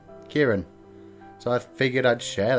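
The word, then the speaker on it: Ciarán: named kukiran is that that's my real name kieran so i figured i'd share that with you guys and it's spelt really weird and the way it's spelt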